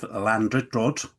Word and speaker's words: Llandrindod: So Fizz has brought the community in Wales of Llandrindod. That's the correct pronunciation, I think you find, by wandering around the local supermarket, the school, the care home, heritage centre and bowling club.